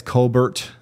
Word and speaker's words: Colbert: FYI, it's Colbert. So it's Colbert. Stephen Colbert has ruined me.